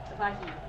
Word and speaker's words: Vahid: It's not Vias. It's similar though. Bias? Vahid. Vahid.